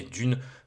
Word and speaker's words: Dune: 1 40000 à savoir dune si on le prononce à l'anglaise mais dune dans notre beau pays qui est la France